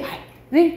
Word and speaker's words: 발: 그걸 이제 발이라고 하는데 가리개 발을 길게 발음한다라고 생각하시면 되고 굴 있어요.